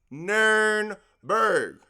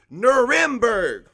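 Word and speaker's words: Nürnberg: area as Erin nernberg which you have probably heard as its Americanized version nurmberg but the actual way that it is spelled and I will prove this on the next slide is eranin nernberg that is the city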